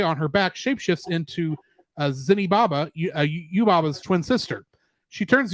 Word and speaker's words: Zeniba: With Haku unconscious, Sen resolves to return the seal and apologize to Zenibaba. Sorry, I keep saying Zenibaba. I think it's just Zeniba.